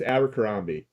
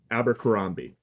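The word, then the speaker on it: Abercrombie: kambi there you go abber kambi well it's abber kambi is how I have always heard it pronounced can you say it for me one more time abber kambi perfect okay let's go all right well I'm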